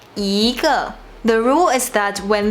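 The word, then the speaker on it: 一个: We won't say 一个, we say 一个.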